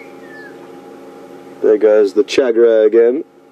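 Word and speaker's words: tchagra: there goes the chagra again interesting name the chagra it's spelled TC h a g r a pretty birds we don't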